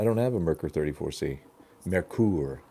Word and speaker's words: Merkur: a video on the merker 34C but no I don't have one Thomas I don't have a merker 34C Merkur actually is how you're supposed to correctly pronounce the thing Merkur but you know we